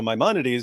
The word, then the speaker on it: Maimonides: I go, okay, so Maimonides. He goes, oh, I pronounced it wrong, and I was like, I thought he had a background in philosophy.